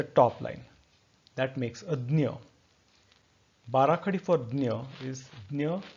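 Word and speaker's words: ज्ञ: Dnya comes in various pronunciations in different languages. For example, in Sanskrit, it is pronounced as Jna, and in Hindi, it is pronounced as Gya.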